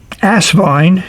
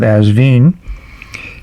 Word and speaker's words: Asvine: increase the Inc capacity asine as some people like to pronounce it me I'm sticking with asvine has this nice wrench